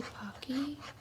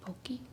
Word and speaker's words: Pocky: I always say Pocky, but I'm sure it's pronounced Pokey. Pokey peppermint, because it's festive and she likes these.